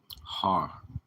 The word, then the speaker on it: har: Har, that's how it's pronounced.